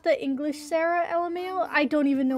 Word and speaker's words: Sara: i gotta wait again her name is pronounced sarah not english oh like i i